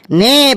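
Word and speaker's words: know: এন ও ডব্লিউ নো এখানে কে এর উচ্চারণটা মুখে হবে না একদম ঠিক বলেছি শাবলু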